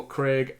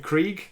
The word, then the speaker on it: Krieg: getting some dlc uh psycho craig as a craig craig i don't know you'd say that it's not spelled how i would spell craig but it it looks phonetically like it would say craig uh reek krieg greek krieg okay so psychology and the